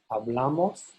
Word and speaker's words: hablamos: In the nosotros and vosotros, the bla is stressed. Hablamos, habláis, and then back to the a.